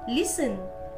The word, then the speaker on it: listen: T is not pronounced in these words. या शब्दांमध्ये T चा उच्चार केला जात नाही. Butcher, castle, Christmas, fashion, listen, match, often, which, soften, watch.